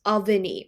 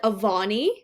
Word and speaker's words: Avani: Okay, so how you actually say my name in India as per how our language says it is Aani, right? But then I come to Australia and everyone's like Avani, which is like elongated.